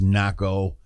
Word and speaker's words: Nahko: I like I said I think it's pronounced NACO and for the people